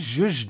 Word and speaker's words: zhuzh: Yeah, Z-H is the zh sound. Zhuzh? Yeah, Z-H-U-Z-H. Zhuzh.